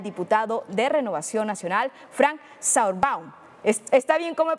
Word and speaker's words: Sauerbaum: y le doy la más cordial bienvenida al diputado de Renovación Nacional, Frank Sauerbaum. ¿Está bien cómo he pronunciado su nombre? Es Sauerbaum.